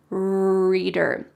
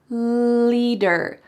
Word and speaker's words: leader: So instead of saying leader, I heard him say reader instead of leader, reader. So if you want to make a clear L sound, your tongue can go between your teeth. Leader, leader.